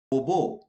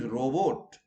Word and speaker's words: robot: But sometimes people think that it is a robo. No, there it is robot. Okay, ROBOT. There T is not silent.